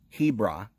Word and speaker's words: Hebron: Mamre which are in Hebron and that's where he began to build an altar we talked about how Hebron is originally was curious Arba arba see the H is silent he brah are by the same